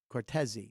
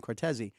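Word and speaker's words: Cortese: of people don't understand my name actually is cortei he goes it rhymes with Martin it's like Martin coresi he goes so I want to be introduced as Dan cortei so I would pronounce his name when I'd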